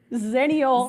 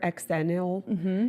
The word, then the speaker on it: Xennial: If you were in that special 6 years, you are, cheers, Xennial. Xennials. Xennials, what I like to say. Xennial. Eggs. The X is See? the X, but you say it with a Z.